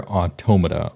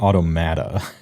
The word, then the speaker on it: Automata: Bold move putting near automa or automata if you want to mispronounce it in the top 100.